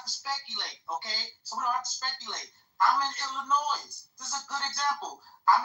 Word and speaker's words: Illinois: Wait, let me help you. Illinois, not Illinois.